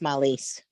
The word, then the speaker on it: Marlies: Well, you are, except the R is silent, so it's Malise.